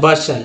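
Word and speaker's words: bustle: है तो टी जो है साइलेंट हो गया, उच्चारण होगा बसल, क्या पढ़ेंगे, बसल।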